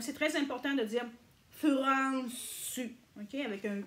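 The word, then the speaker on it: フランス: Au niveau de la France, c'est Furansu. Furansu. OK? Si vous venez de la France, Furansu. OK? Dites pas France.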